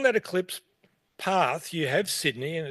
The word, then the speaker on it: Sydney: Local pronunciation, nobody says Toronto. Nobody goes to Toronto. In the same way, nobody goes to Sydney. It's Sydney.